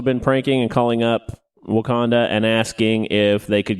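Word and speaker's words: Wauconda: town in Illinois called Wakanda Wow it's spelled differently but pronounced the same way awesome and because of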